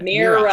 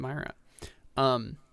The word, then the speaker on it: Mira: Mira. Sorry. It's because of the eye. Why is there an eye? I don't know. My brain wants to pronounce it Myra.